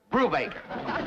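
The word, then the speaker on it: Brubaker: I mean B R U B A K E R. Brew Baker.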